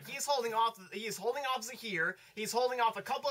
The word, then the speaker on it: Zahir: I think it's Azir. Let me see. We better look up the proper pronunciation. We're gonna look like idiots on this thing. Zahir. Zahir. Here we go. Zahir.